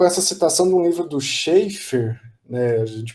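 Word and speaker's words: Schafer: começa com com essa citação do livro do Scheffer né de pronuncia assim é um teórico compositor canadense né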